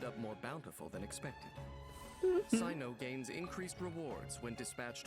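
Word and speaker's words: Cyno: love them the favor of the guards enable Sino to manipulate the electorate that's how you pronounce his name okay thank you because I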